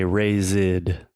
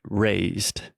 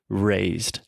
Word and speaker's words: raised: speakers make they say razid razid so they're adding that extra ed sound when most of the time it's not necessary so it simply raised so just imagine a